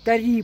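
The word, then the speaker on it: طريق: Тари, правильно, ударение на последний.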